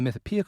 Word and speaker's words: Mythopoeic: Sunshine won the Mythopoeic Award in 2004, which is from, if people don't know, the Mythopoeic Society, which I'm realizing as I say that, I've never said that word out loud.